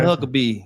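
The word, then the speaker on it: Huckabee: Governor Huckabe.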